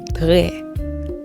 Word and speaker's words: très: Très. Make sure you're pulling that tongue back with the R, and it's très. Don't roll your R's, because this is not Spanish. This is Haitian Creole.